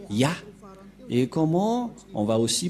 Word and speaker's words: Yah: Ça se prononce Yah.